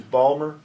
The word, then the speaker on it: Balmer: I just want to correct, the name of our city is Balmer, and it's spelled B-A-L-M-E-R.